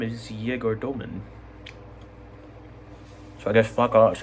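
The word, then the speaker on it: Egor Demin: been like, actually, guys, my name is how pronounced like this. No. Just randomly on a podcast, he's like, my name is Yegor Doman.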